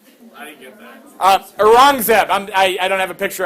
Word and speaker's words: Aurangzeb: But unfortunately, the good times won't last, because if you got an Akbar, you probably got an Aurangzeb. I didn't get that. Aurangzeb.